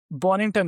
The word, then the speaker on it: Bonnington: I'm your host at Raj and today we have Bonington with us. Did I pronounce it right?